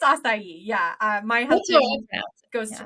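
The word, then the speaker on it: açaí: Well, I know I always say like acai bowl, but I used to say a chai. And keep in mind too, I might have like I think it's called what it's called, right? So I might be pronouncing it wrong, but I'm gonna rely on my Canadian influences. I might come up with some wacky pronunciations. I think it's acai.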